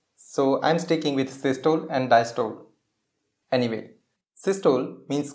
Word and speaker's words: systole: Their proper pronunciation is systole and diastole, but I am not used to these pronunciations, so I am sticking with systole and diastole.